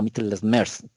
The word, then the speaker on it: Mittelschmerz: Lo que me han enseñado un poco, se pronuncia algo así como Mittelschmerz, como torciendo un poco la boca.